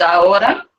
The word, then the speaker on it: ahora: remember, it's ahora. Remember, H is always silent. Ahora.